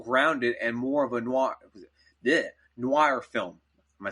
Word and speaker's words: noir: It's going to be more grounded and more of a noir film.